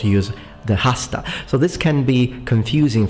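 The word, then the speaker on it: hasta: point although the word hosta and I'm pronouncing the H because I'm using classical pronunciation I know that in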